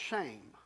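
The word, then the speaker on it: שֵׁם: Old Testament that is Shem or shame it's sem it's just three words three letters it's pronounced shame and for us to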